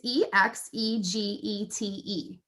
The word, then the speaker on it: exegete: you look on the note it just it's e x e g e t e exege exegetes exegete the text while exposing the